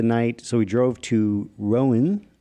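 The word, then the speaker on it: Rouen: so we drove to Rowan I think is how you say it r-o-u-e-n it is where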